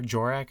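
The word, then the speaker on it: Dvořák: or djor or whatever jorak I think it's like d a v o r a k like there's a j pronunciation as part of that and it throws me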